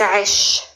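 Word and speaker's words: عش: The starting letter is the letter Ain. It comes from your throat.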